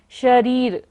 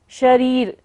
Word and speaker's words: शरीर: शरीर र पर बड़ी की मात्रा है से इसलिए हमें उसको लंबा लेना है। शरीर शरीर भाजाम आक्रांत आक्रांत का के ऊपर र है।